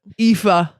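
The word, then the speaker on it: Aoife: E A E O. No. A O I F E. A O I F E. And that is pronounced EA.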